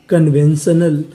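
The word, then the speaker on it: conventional: अल तो मीनिंग क्या बनी कन कन्वेन शनल कन्वेंशनल कन्वेंशनल कन्वेंशनल का मतलब होता है पारंपरिक तो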